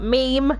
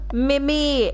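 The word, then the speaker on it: Mimir: it oh my god to pronounce mimi no not meme mimi m m-i-m-i-r i thought i said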